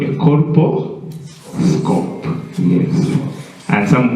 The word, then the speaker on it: colposcope: district govern I have issues with some members pronouncing that word uh but it's called a Coro scope yes and some call it aosc ccope is